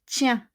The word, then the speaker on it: tiens: For the premier group, première personne singulier, tiens. Je tiens le sac. Je tiens. On ne prononce pas le S.